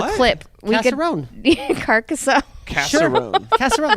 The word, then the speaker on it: Carcassonne: You want to know all the games I mispronounce? We can talk about We don't Casserone. have- we could just roll a What? clip. We Casserone. could Carcassonne.